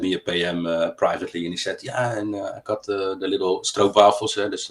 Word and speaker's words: stroopwafels: privately, and he said, I got the little stroopwafels, that's how you pronounce it.